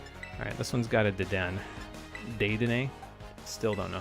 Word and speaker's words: Dedenne: But if it's N-N-E like that, you pronounce it like a long N, so you go Dedenne.